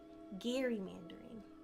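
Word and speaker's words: gerrymandering: Soft G. Sorry. Gary Mandering.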